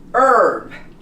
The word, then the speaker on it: herb: Or if the word begins with an H, again, this word becomes honest. The H is silent. Hour, herb.